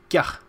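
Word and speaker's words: ཀྱ: So to this notation you'll read it as ka, ya, ta, and when the ya is attached to ka, what does it become? How do you pronounce it? It's called kya.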